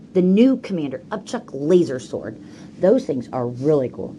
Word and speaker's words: sword: how do you spell sword it has a silent W in it honey you spell it